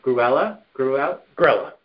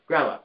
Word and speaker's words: Grella: the investment partnership of, correct me if I pronounce this correctly, Gruella? Grella.